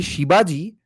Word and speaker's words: Shibaji: It's specifically Shibaji because it's a spin on the pronunciation of Shivaji.